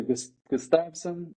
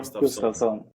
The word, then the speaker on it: Gustavsson: Gustavsson. Gustavsson. Okay. Yeah, that's good. That's better. But you can say Gustavsson or Gustavsson. Or Gustavsson. I'm going to try it, yeah. That's a Swedish pronunciation.